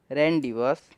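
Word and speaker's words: rendezvous: इसके मैं आपको प्रोनाउंस भी कर देता हूँ, रेंडिवस। तो मैंने आपको प्रोनाउंस कर दिया है, आपको बस ये याद कर लेना है।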